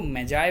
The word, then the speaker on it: Magi: देखिए इसका प्रोनाउंसिएशन ध्यान से करिएगा, इसको मेजाय बोलते हैं, है ना.